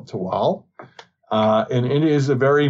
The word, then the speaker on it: Tehuatl: is one of those islands it is called tewal it's spelled t-e-h-u-a-t-l but we're going to go with the nawal pronunciation and call it to wal and it is a very mesoamerican inspired um